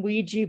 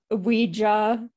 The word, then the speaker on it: Ouija: But some people pronounce it Ouija. I don't know. I don't like it. I feel like Ouija. That's probably just kind of how it started out. and that's how it's written. But over time, people have started saying it Ouija. Yeah. And that almost becomes more the accepted pronunciation, you know, because it's more common.